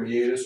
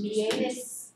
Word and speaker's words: meatus: It looks like meatus, M-E-A-T-U-S. If you saw it, you just pronounce it meatus. M-E-A-T-U-S, like meet us. Oh. But it's pronounced meatus. Meet us at the door.